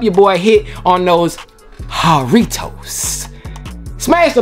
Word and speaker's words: Jarritos: But of course, when it comes to different cultures, the J is silent. So y'all told me it's a H in the place of the J. So it's Jarritos.